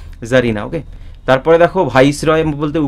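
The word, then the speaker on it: czarina: ঠিক আছে, জারিনা, জেড এ আর আই, সি জেড এ আর আই এন এ সি, এর উচ্চারণটা হয় না, মিউট থাকে, জারিনা।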